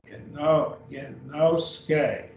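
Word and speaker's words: γινώσκει: Notice we have Christos. Christos. 2 syllables. Genoske. 3 syllables.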